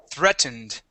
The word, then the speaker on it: threatened: sorry the um uh EA here will make a short e sound so instead of saying th three or three okay it is thre threatened try that threatened good one